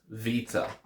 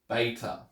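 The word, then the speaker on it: βήτα: be looking at is Vita now I pronounce it with a V sound because that's how it's pronounced in modern Greek and I wrote it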